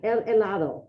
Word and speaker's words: helado: Yeah, el helado, right? That H is silent. El helado.